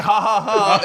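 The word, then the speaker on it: jaja: silent in English but the J is pronounced as an H yes the H is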